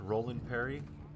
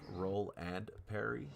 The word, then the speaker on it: Roland Perry: And it's like, it's pronounced Roland Perry. You're supposed to say it fast because Roland is his first name and Perry is his last name. But it was spelled out like Roll and Perry.